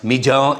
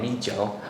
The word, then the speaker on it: Mijiu: So rice wine is pronounced Mijiu in Chinese. Is that correct, Father? Yeah, Mijiu.